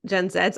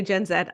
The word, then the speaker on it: Gen Z: Millennials and the Gen gen Zeds I say gen Zed I know Americans say